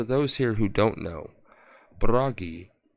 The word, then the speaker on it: Bragi: And for those here who don't know, Bragi, or Brogi, as he is also pronunciated, is the god of poets, and of singers.